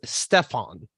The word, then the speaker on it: Steffan: Actually, it's Steffan. That's Steffan. more right. Steffan is right.